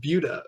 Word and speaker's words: Buda: I've never heard of Buddha Texas it's uh it's actually pronounced Buda like beautiful but um it's right